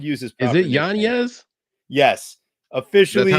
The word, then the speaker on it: Yanez: Yanez. Adrian Yanez. We shall pronounce it correctly and use his proper Is it Yanez?